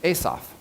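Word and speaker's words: Assof: He pronounces his name Asaph.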